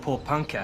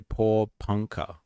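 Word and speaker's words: Porepunkah: The small town of Poor Panka has been hit hard by poor. Okay. Poor Punka. All right, I'll say it properly from now on.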